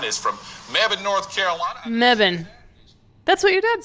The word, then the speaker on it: Mebane: Mebane.